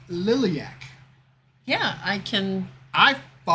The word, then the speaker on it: Liliac: you listen to okay okay and they are pronounced liliac yeah I can I've up yeah and you stopped it as I see it as lilac lilac wouldn't have that second eye title track